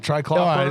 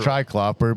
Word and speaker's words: triclopyr: Triclopyr? Look, I say triclopyr, but it's actually triclopyr.